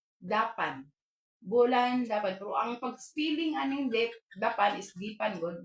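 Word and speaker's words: depan: Bulan dapan ang paging dapan isan d e p a n ang pagpronounce kay instead sa eah A okay bulan dapan Okay sa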